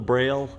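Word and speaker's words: Brale: Why is it called a braille? I have no idea. I just know it's spelled B-R-A-L-E.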